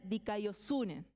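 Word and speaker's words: δικαιοσύνη: Pero se pronuncia dikaiosune.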